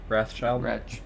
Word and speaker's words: Wrathchild: People, from what I heard, like Ratchild is how you say it. Wrathchild.